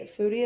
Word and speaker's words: Fudi: Foodie is spelled Fudi, and it is like known for connecting influencers with restaurants.